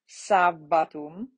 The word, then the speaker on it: sabbatum: Double consonants, you're going to pronounce both of them. So ancilla, missa, peccatum, sabbatum, comito, comito, right? So all of the consonants are pronounced with just a small pause between the letters.